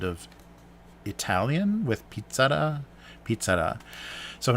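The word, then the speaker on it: Pizza-La: So pizzara is kind of the domestic Pizza Hut, like the domestic pizza restaurant in Japan, and pizzara is how it's supposed to be pronounced, and I'm not sure.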